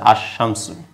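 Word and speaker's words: الشمس: শামসিয়া যার জন্য লামের উচ্চারণটা হয় নাই এটাকে উচ্চারণ হচ্ছে আশামসু এইভাবে অসংখ্য শব্দ আছে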